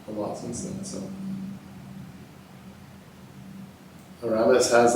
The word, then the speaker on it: Aramis: Aramis, I think is how you pronounce it. Aramis.